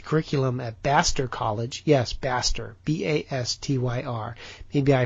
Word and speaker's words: Bastyr: If you look at the curriculum at Bastyr College, yes, Bastyr, B-A-S-T-Y-R, maybe I pronounce it wrong, but I couldn't come up with these names if I tried.